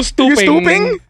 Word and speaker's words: Stoopeng: Like STOO. It's like Stoopeng, like the hat brand. Ping. YOO, and then is PING.